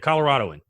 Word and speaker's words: Coloradoan: Yeah, the Coloradoan.